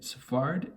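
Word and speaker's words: Sfard: pronouncing his name incorrectly it's f a it's uh s f a r d and i'm pronouncing it safarid and i hope that's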